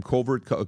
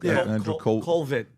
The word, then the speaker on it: Colvett: Colvert? Andrew Colvett.